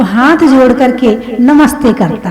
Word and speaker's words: नमस्ते: नमः ते, जो सा है बीच का वो हलंत है, वो 2 बिंदी लगाते ना, नमः ते। तो नमः ते विसर्ग को उसको आधा सा उच्चारण किया है, तो उसका पूरा शब्द बन जाता है नमस्ते, यानी तुम्हें नमस्कार है।